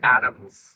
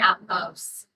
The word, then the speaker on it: Atmos: this is pronouncing it Adams. Adams. Oh, like ETOMS. Yeah. Yeah, dyslexia, darn it. And people say Atmos because it's short for atmosphere, but we're saying Atmos, kind of like at the most.